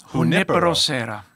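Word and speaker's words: Junípero Serra: So first, did I pronounce it right? Is it Junipero Serra? Junipero. Junipero Serra.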